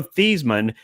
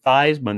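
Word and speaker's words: Theismann: Joe theseman that's right it was Joe theseman uh they changed the pronunciation of his last name to Joe Theisman that was from the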